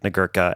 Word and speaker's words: Nagurka: And we are back with the wonderful, talented Nick Nagurka. And I just realized, am I pronouncing that correctly?